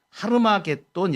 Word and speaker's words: 하르마게돈: 성경에 아마게돈 이렇게 나오는데 이게 원문의 발음으로는 하르마게돈 이렇게 표현됩니다 하르마게돈 이데 하르마게돈 이렇게